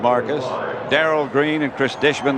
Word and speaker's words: Marvcus: Marvcus, pronounced Marcus.